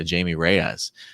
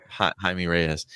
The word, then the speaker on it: Jaime Reyes: morales and uh uh jamie reyes no i mean that highly pronounced yeah okay yeah jaime reyes uh yeah i mean